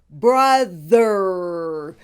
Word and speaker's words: brother: the O in brother is pronounced as a short vowel you like in the word up and hush it is a quick vowel the th has a voice I will do this